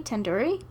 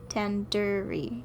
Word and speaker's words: tandoori: it wrong what really tandoori tandoori tandoori tandoori the do isn't like indoor it's like doo doo head are you five